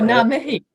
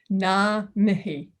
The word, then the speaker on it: ngā mihi: Oh, ngā mihi. That's thank you. Yeah. Okay. Māori. Yeah. Okay. Now say that slowly. Ngā mihi. Oh, so the G is silent. Silent. Yeah. NG Yeah. together. Ngā mihi.